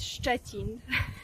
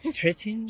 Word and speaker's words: Szczecin: Ah, But I am from a city with a very difficult to pronounce for foreigners name. okay. It's Szczecin. Stretching?